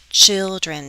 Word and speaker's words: children: what do children children children two syllables stress on the first right children children what do children often